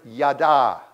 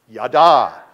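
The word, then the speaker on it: ידע: Because the word that is used there in the Hebrew is the word yada. Say it with me, yada. Say it like with some gusto, yada.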